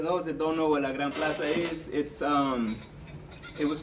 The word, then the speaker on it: La Gran Plaza: Let's talk about La Grande. La Gran Plaza? Yeah, that's how you pronounce it? Yeah, La Gran Plaza. What? Spanish getting there, y'all. Come on.